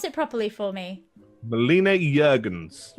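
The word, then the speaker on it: Melina Juergensen: Now, I can never pronounce her name, so you pronounce it properly for me. Melina Jurgens. Right, Melina Jurgens.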